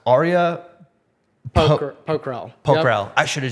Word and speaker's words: Pokhrel: I am your host, and with me today, sorry if I pronounce this incorrectly, but it's pronounced Arya Pokhrel.